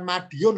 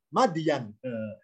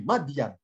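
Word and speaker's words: مدين: mim Dal ya Nun Apa bacanya bukan Madiun lho ya kalau Madiun Ponorogo Maaf ya bacanya bukan Madiun madian negeri madian ini kalau nggak ada harokatnya bisa ditulis Madiun Ini bukan Madiun tapi madyan singkat cerita setelah menikah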